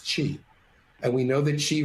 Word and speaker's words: qi: concept of wellness called chi it's spelled q i but pronounced chi and we know that